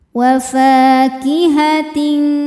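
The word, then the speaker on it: وفاكهة: Wa fa hukumnya adalah mad tabi'i zahiri, sebab ada alif yang sebelumnya berharokat fathah. Cara membacanya dipanjangkan 2 harokat. Wa fakihatin.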